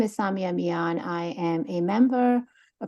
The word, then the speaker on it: Samia Mian: And please state your full name, pronounce it the way it's supposed to be pronounced, and your municipality. You said it very well. So my name is Samia Mian.